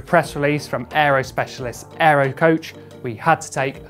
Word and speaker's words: AeroCoach: we receive a press release from Aero specialists Aero coach we had to take a closer look British